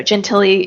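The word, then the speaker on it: Gentile: a couple weeks ago Gentilly Tara Gentilly she's a the last name is spelled g-e-n-t-i-l-e it's always kind of doesn't it isn't spelled the way it sounds right so I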